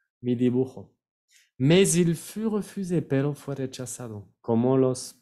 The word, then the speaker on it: refusé: Refusé, hay una sola S en la palabra, entonces se pronuncia Z, S dans un mot.